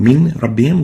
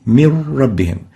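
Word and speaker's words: مِن رَّبِّهِمْ: So instead of saying min rabbihim, we'll say mir rabbihim. No noon would be pronounced, only a ra, and the ra will be like duplicate ra. It has shadda. Mir rabbihim instead of min rabbihim.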